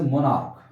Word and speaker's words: monarch: अब इसका एक एक्सेप्शन है, जैसे मोनार्क, तो मोनार्क MONARCH, यहाँ पर CH का जो प्रोनाउंसिएशन हो रहा है वो का हो रहा है ना, तो इसका क्या बनेगा, मोनार्क्स, इसमें केवल एस लगेगा।